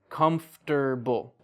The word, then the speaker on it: comfortable: Or like comfortable. That's how it's spelled. But native English speakers, we say comfortable.